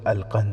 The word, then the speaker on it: القنص: نام بھی لکھا ہے۔ نام القنص تھا، جس کا تلفظ القند ہے۔ وہ مصری مسلمان تھا،